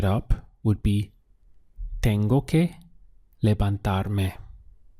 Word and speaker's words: levantar: The verb to lift in Spanish is levantar. We have 3 syllables. Le-ban-tar.